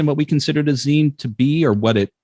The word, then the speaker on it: zine: The one thing that we can clearly agree upon in regards to zines and what they are and how they're represented is the proper pronunciation is zine.